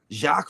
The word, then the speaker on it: Jacques: So I mean, but then again, like human Jacques Vallée, I mean, none of those letters say Jacques.